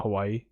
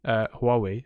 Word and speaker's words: Huawei: Not Hawaii. Huawei.